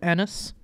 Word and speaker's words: Ennis: the Madison, south of Ennis. South of Enos. It's spelled like it's like penis with no P on it. But no, it has 2 N's.